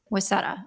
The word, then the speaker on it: Huesera: Is it Huesera or Husara? I How are say you? it How are you saying it? Wesada. Wesada. Wesada. Huesera. Okay. Uh-huh. If I'm Was that. it? Is it Huesera, or I don't Uh know?